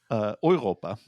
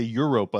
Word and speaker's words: Europa: also was weird because that's not how you pronounce that in German. How would you pronounce it in German? Europa. Okay. Yeah, but they say Europa, like specifically like the English pronunciation Oh, of Europe, but interesting.